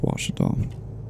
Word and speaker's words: Ouachita: You can go into the Ouachita Mountains. If you're looking to figure out what I'm talking about, it looks like Washita, but it's pronounced Ouachita.